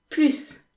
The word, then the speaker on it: plus: as in snake or it can be pronounced z when you have to make the liaison so in this lesson